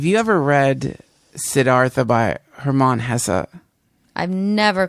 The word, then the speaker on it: Hermann Hesse: this uh have you ever read siddhartha by hermann hesse i've never called his name that but yes that's how you pronounce it if you if you revisit it